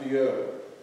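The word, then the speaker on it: Biau: It's spelled B-I-A-U, but pronounced Bio until she says different.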